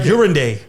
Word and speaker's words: Uranday: here with our broski John F.U, aka John Uranda, right? Hell yeah! Did I say it right this time? Yes, even saying it again. Yeah, no, the first time I was John. I still like Uranday.